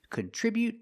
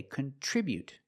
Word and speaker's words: contribute: Today we're practicing with these two words contribute and contribution. The pronunciation is a little different. So let's get started with the verb. We say contribute. We put the stress on the second syllable.